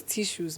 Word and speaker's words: Tissus: It's a French word. So obviously the last S is silent. So they say tissues. Tissue.